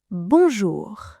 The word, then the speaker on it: bonjour: Remember, push those lips forward. English is spoken in the back of the mouth, but French is spoken at the very front, right behind your teeth. Bonjour.